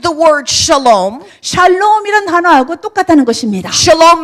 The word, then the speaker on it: shalom: Let's all say shalom. 이렇게 말합시다. 샬람 합시다. It rhymes with bam.